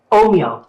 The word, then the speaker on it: Ohmio: it could you say it for me again Oho Oho okay so oh moo okay sounds a little Italian um but how